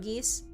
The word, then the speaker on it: geas: I know you meant geese, but I'm imagining fairy geese. Yeah, I think it's pronounced geese, right? G-E-A-S, like code geese.